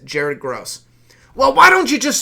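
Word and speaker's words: Grosz: sneak peek by the way the name is pronounced Jared gross well why don't you just spell it with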